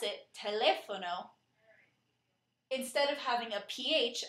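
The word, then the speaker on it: teléfono: spelling variation is the word telefono where you pronounce it telefono instead of having a pH as it does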